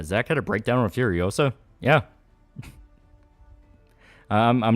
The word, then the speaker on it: Furiosa: It's pronounced Furiosa, not Furiosa.